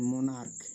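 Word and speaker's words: monarch: সেক্ষেত্রে এস যোগ করে প্লুরাল করতে হয় যেমন মোনাক এম ও এন এ আর সি এইচ এখানে সি এইচ এর উচ্চারণ ক হয়েছে তাই আমরা এস যোগ করে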